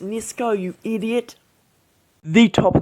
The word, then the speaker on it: Nisco: hands deck and then you have gomes and nicos on the other side of the tuck no it's pronounced nisko you idiot the top of the tuck looks